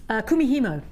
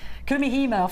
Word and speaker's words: Kumihimo: Kumihimo. Thank you. Don't worry, it's taken me months to get that one out. I was going the Camino, the Kamikaze, Kumihimo finally clicked.